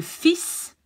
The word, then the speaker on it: fils: Mon fils. You see, you don't say the L. Un fil. There you say the L. Deux fils. Two sons. Huh? You don't say the L.